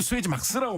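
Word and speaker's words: Suezmax: 근데 업계에서 왠지 수에즈 막스라고 많이 발음을 합니다.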